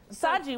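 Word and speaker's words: Shaji: Saji, what kind of name is that? Indian. It's a beautiful name. I've never heard it before. How do you spell it? S-H-A-J-I. The H is silent.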